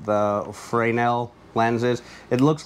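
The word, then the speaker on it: Fresnel: the lights this right here explains how the frel lens is it looks like fresnal but it's actually pronounced frel um how it would take the light and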